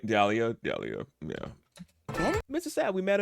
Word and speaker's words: Dahlia: It's Dahlia. It's Dahlia. Before I even press the thing to hear him say it to my for me, I was like Dahlia, yeah.